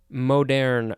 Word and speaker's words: moderne: Moderne, or I think it's moderne, because it is spelled M-O-D-E-R-N-E.